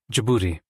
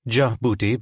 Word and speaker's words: Djibouti: Djibouti, pronounced Djibouti by Americans and Djibouti by the French, sounded both funny and sexy.